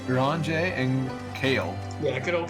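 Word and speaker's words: Urianger: Uranger? Yeah, Uranger, that's right. Uranger and Kale.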